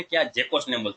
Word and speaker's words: GECOS: इस तरह उसका ये उसका स्पेलिंग है जेकोस नेम, GECOS, जेकोस नेम इसको बोलते हैं।